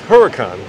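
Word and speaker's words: Huracán: he really sick oh my god dude it's Huracan oh come on what do you call the SUV how do you guys pronounce Uris Uris so let's well we're looking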